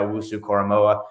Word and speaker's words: Owusu-Koramoah: So Micah Parsons, but don't let that be any knock on Jeremiah Owusu-Koramoah, and that is how you say his name.